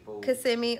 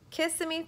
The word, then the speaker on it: Kissimmee: Kissimmee or Kissimmee. And spell it.